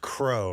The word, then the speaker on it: CRO: Shaun, CRO is pronounced crow, right? That's what I've heard. I mean, yeah, I generally say crow.